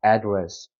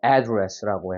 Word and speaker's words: address: 자 어떻게 읽어야 될거요 명사일 때는 음절의 강세가 있습니다 자 알파벳 a 힘이 들어가면 대표적으로에 발음이 날 때가 많습니다 에가 아니라에 하면서 엄청 입이 이렇게 찢어지고 크게 힘이 들어가는 소리입니다 그래서 어떻게 읽어야 되냐라고 읽어야 돼요 adress adress 그래서 여기 같은 경우는 앞에 강세가 들어가니까 앞에 부분을 힘줘서 크게 읽어야 되는 거죠 address고 해서 Please